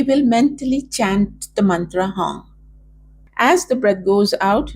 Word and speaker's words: Hong: So chant with me, Hong, where you are extending the last part of Hong as long as your breath is or as short as your breath is.